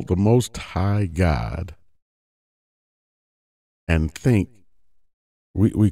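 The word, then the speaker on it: Gad: Israelites named the tribe of God most people pronounce it gag but it's actually pronounced God but where does that term come from that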